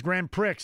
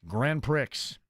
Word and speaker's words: Grand Prix: I like to reference it as Grand Pricks. Is that accurate? That's how you right. P R I in southern Indiana is not pronounced pre.